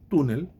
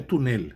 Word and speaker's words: túnel: Túnel não é túnel, é túnel. A tônica está na penúltima, não na última.